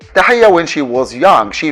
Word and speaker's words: Tahia: we know or tahiya let us say her name in the beginning like that tahaya when she was young